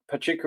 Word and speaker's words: Pachuca: Is it Pachuca? Is that how you pronounce it? Yeah. Yeah. So Pachuca in Mexico, and that is just to the northeast of Mexico City.